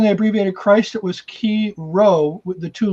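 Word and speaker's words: chi: the greek letter key it's pronounced key or some people say kai which is the uh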